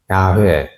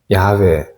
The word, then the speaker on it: 야훼: 히브리어 원 발음으로 하게 되면 야훼, 야훼 뭐 그렇게 발음할 수 있습니다.